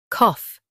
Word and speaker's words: cough: Calf has a longer a. UK. Cough is shorter.